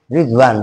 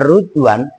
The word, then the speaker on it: Ridwan: Lafaz ridwan itu boleh dibaca rid, boleh dibaca rut bikasri roi wadommiha. Jadi boleh ridwan, boleh ruduan. Yang kita dengar kan biasanya rid ridwan. Tapi kalau umpamanya ada orang yang membacanya rudwan, jangan kalian marah. Memang boleh dua, cuman yang masur di kita ridwan.